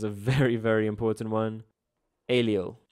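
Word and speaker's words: allele: very very important one alio Ali alele you you got to know how to pronounce that hey because the first time you saw it you you probably confused huh uh question six a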